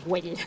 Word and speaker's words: Güell: Park Güell.